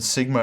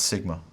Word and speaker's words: sigma: In the Erasmian pronunciation, sigma is pronounced with a z sound, as in hose, hose, z. In the modern pronunciation, it's more of a straightforward S sound, as in sit, sit.